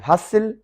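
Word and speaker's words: hustle: हसिल, T silent है।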